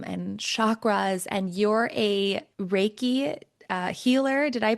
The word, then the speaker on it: Reiki: And you're a Reiki healer. Did I pronounce that right? Yeah, you got Reiki, it. Reiki.